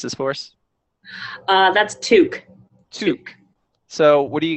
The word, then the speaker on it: toque: Can you pronounce this for us? That's toque.